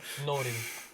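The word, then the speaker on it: Nourin: Naurin? How do you say it, Alan? Norin. Not Urin. Norin.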